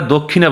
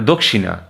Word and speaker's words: দক্ষিণা: হ্যাঁ, এমনিতে কিন্তু বাংলায় আমরা দক্ষিণা বলি, কিন্তু সংস্কৃত ভাষায় সঠিক উচ্চারণটা মানে দক্ষিণা।